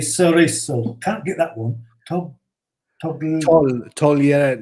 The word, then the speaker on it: togliere: Togliere. You don't pronounce the G, do you? No.